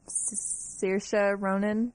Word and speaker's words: Saoirse Ronan: Saoirse Ronan.